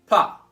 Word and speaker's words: pas: Notice that the S in this pas is not pronounced at all. It's not pas, it's pas.